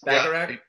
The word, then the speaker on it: Bacharach: That is Bacharach.